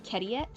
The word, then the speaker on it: Kediet: And I was so impressed with my younger self, because his last name was Kediet, which is just phonetically etiquette backwards. Instead of etiquette, he's Kediet.